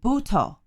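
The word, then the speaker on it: butoh: a form of a dance from japan called bhuto b-u-t-o-h and uh not only is it based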